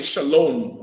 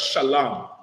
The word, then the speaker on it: shalom: to pronounce the words that's why they say shalom with the O M instead of shalam is sha la in